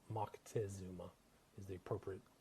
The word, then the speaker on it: Moctezuma: a guy by the name of Moctezuma, or Montezuma, as they say here in the States, but it's Moctezuma is the appropriate pronunciation.